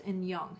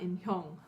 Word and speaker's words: 인형: But that H sound is actually silented because in the previous syllable it ends in a consonant, so it's just in young. It's not in hyung, like I probably made